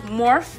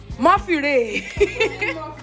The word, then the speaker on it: Morphe: Please, is this pronounced Morph or Morphe? Morphe Ray.